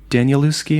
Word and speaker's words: Danielewski: Danielewski. Am I pronouncing that right?